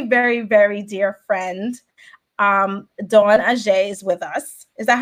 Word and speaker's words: Adjei: But today we have a special guest, my friend, my very, very, very dear friend, Dawn Adjei is with us. Is that how I pronounce it, Dawn? Yes, Dawn Adjei.